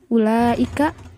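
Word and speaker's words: أولئك: Penambahan huruf wawu pada tengah kata. Fil kitabati walaysa fin nutqi. Tetapi penambahan huruf wawunya ini hanya dalam penulisannya saja, tidak dalam pengucapannya. Contohnya uli, ulaika, ulai, ulati, ulu. Nah, pada kata-kata yang telah disebutkan barusan, pada masing-masing tengah katanya itu terdapat huruf wawu, tetapi tidak dibaca panjang karena itu bukan wawu matobi'i dan tidak dibaca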